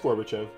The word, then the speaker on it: Gorbachev: wrong I don't know no it's Gorbachev and you pronounced it right g-g-o -g-o-r-b plus